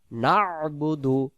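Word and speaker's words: نعبد: সহি করে পড়বো ইয়াকা নাবুদু নাবুদু বানান নুন আইন জবর না বা পেশ বু উচ্চারণ নাবু দাল পেশ দু উচ্চারণ এবার নাবুদু নাবুদু এই শব্দগুলো বাংলা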